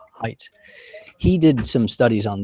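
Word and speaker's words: Haidt: do with Biology um Jonathan height or hate as it sometimes pronounced I'm not really sure what the exact pronunciation is but I believe it's height he did some studies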